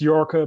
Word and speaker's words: Jorge: your name correctly uh it's york but to be honest close to everybody mispronounced my name so i'm used to